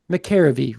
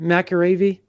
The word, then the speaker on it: McElravy: How do you say it again? McAravy? Yep, there you go. I got it, McAravy.